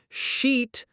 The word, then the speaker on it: sheet: Remember, sheet has that long E sound, and shit has a short I.